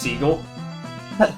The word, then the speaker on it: Sg’hel: It's pronounced seagull.